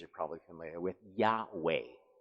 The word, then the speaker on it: Yahweh: are probably familiar with yahweh yeah way is i mean if i was if i was wayne's world guys yeah way it's like this was way no way and i think that